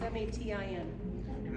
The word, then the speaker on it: matin: How do you pronounce M-A-T-I-N? matin. As in matinee.